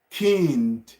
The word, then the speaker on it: Kind: You can pronounce it like kind.